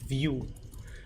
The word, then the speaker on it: Vue.js: uh in vooja s which is apparently pronounced View so this somehow is a pronounced View which I don't know